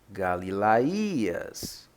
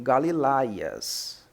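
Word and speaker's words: Γαλιλαίας: Aqui vemos Galilaías, Galilaías. Muitos pronunciam Galilaias. É correto? Não, sendo que temos aqui um acento.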